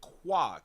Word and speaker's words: Qua: He pronounce it qua. K ua is qua.